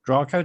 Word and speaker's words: Draco: And 5,000 years ago, this star, Thuban, the brightest star in the constellation of Draco, or Draco, depending how you want to pronounce it in the dragon, that was the pole star.